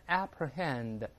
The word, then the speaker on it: apprehend: 一个词叫 apprehend，有人读成 apprehend apprehend 都行，第一个字母 a 轻读，但是读 a 读成 i 都算对。